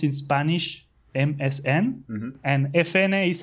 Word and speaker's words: Efene: it's how you pronounce in Spanish MSN and FNA is how you pronounce in Spanish FN the two letters so